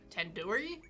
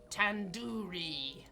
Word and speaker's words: tandoori: it wrong wait really Ted Dori tandoori the two isn't like door it's like doodoo head are you five years old you could have just said like the dude dude 810 soory tandoori I ended up taking